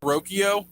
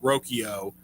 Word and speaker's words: Rocchio: He pronounces it Rocchio, and which I actually think is probably closer to the real Italian description. But Rocchio.